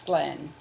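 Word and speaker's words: Gleen: which to me is glean but i for some other reason they always pronounced it as glenn i was born on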